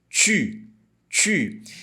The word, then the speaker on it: tu: Você vai falar a letra I e fazer o biquinho ao mesmo tempo. U. Falando tu.